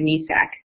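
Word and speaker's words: NEASC: So we're accredited by, I always pronounce it NESAC, New England Association of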